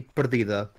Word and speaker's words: Perdida: The correct pronunciation, at the very least in my language, would be Perdida. Yeah, with the accent on the E.